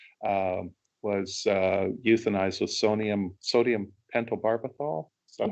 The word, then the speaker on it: pentobarbital: Unfortunately, this pig, it was supposed, um, was euthanized with sodium pentobarbital. Is that how you Right.